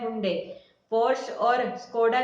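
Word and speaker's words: Porsche: पोर्श और Skoda के नाम के उच्चारण में इन सामान्य गलतियों की गई है।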